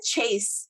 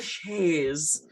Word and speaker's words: chaise: Okay, not a chase. Okay, if I hear you say chase, it's on. Okay, it's a chaise lounge.